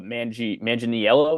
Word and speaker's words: Manganiello: And then for Fallon, we'll have Joe Manganiello.